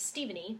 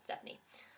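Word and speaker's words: Stevenie: named after their father so my parents just took the name steven and they added an IE so technically you could say my name is Steven E but most people pronounce it Stephanie um I grew up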